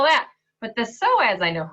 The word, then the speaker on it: psoas: Have you heard of the PSOAS? Let alone, do you know how to spell it? It's kind of like the word possum, which is O-P-O-S-S-U-M.